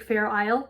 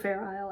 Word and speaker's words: Fair Isle: Isle in there faux Fair Isle I should say um as long as we can put faux and put a silent X and Fair Isle with the silent s um so that's that